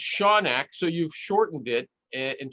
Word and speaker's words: Shoanak: name is like shonak is it sure it's sean ock that's how it's pronounced okay let me give you some advice